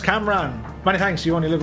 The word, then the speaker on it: Cam Ranh: Ah, it's pronounced Camran.